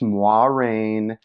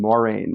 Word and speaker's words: Moiraine: make a quick comment I know her name is pronounced moi rain but you know combined with my New York accent and me having read this series for the first time when I was like 12 it's like ingrained in my brain Maureen Maureen and I it's hard for me to switch between the two but I know how